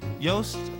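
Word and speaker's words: Yost: could not be beat Yos uh rhymes with boast and that's what he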